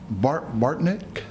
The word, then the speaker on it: Bartnick: Bartnick. Did I say it right? Yes, you did. Good evening. Very good. My name's Bartnick. You got it right. Most people mispronounce that.